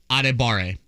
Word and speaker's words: Adebawore: Tommy is definitely like a big part of one of the syllables. Okay, that's cool. Addy Tomiwa, yep. Adebare.